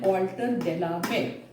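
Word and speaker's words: Walter de la Mare: Walter Delamere, इसका pronunciation Walter Delamere.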